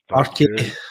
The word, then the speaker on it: Farke: Farke. There's an E at the end.